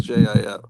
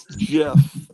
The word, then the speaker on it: GIF: It's spelled GIF, but they pronounce it GIF. Yeah, they pronounce it like it's JIF. Wait, yeah, I think so. Remember reading about that back in the MySpace days? They were explaining how to pronounce it I can for never people. remember which way it is. Yeah, it's GIF, like Jiffy.